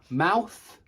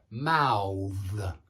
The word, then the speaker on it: mouth: not the same because that is a noun and that is a verb and they are actually pronounced differently and i can even